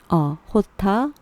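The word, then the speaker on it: jota: 호타 맥그로우라고 하는데 이제 원래는 이제 J라고 그냥 읽으시면 되는데 여기서 소녀는요 J를 호타라고 읽는데요. 이거 뭐냐면 스페인어 쪽에서는 J를 H 사운드로 보통 읽거든요. 그리고 우리가 알파벳 A, B, C라고 하는 것처럼 이 J를 호타라고 얘기를 하는데 이 J를 스페인식으로 호타라고 한 걸로 보면은 아마 이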